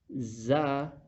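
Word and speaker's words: زاي: Za, za. Za will be more stressive. Do difference between dhal and za. When the tip of the tongue touches the back side of the lower front two teeth, za, seen, seen.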